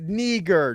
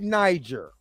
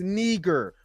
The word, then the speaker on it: Niger: That area, Niger, is pronounced Niger, not Niger. It is pronounced Niger, which is the Black Lands.